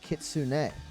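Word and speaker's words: きつね: And so kitsune is the proper Japanese pronunciation, but a lot of people in the West, especially with English, say kitsune. I think kitsune sounds nice as well, but kitsune is the proper pronunciation.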